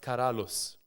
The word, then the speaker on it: Karalius: I came across this word in Lithuanian, which is Karalius, pronounced Karalius, right? I thought it was Karalius. It's Karalius, yeah. I thought it was Karalius, yeah? Karalius. Yeah, but I like to say Karalius. I like the IU, right?